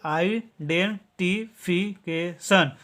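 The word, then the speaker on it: identification: उच्चारण करते हैं सन टी आई ओ एन का हमेशा उच्चारण होता है सन ठीक है तो इसको पढ़िए मिलाकर के आइडेंटी फिकेशन आइडेंटिफिकेशन इसको पढ़ेंगे आइडेंटिफिकेशन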